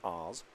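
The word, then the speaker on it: Aas: Oz is spelled A-A-S, pronounced Oz.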